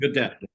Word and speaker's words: Gedeptin: We pronounce it Gedeptin.